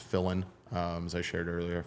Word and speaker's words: Filin: last name pronounced Fillin um as I shared earlier fill in the blank but one L I wrote uh so